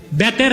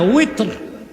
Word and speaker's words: ওয়েতর: তারপরে আবার 3 রাকাত বেতের না ওয়েতর, এই উচ্চারণগুলো শুদ্ধ করতে হবে।